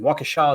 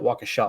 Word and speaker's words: Waukesha: Waukesha, is that how you say it? Waukesha, right?